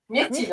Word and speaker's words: Myrtille: Comment on le prononce son Myrtille. prénom? Myrtille, hein, c'est Myrtille.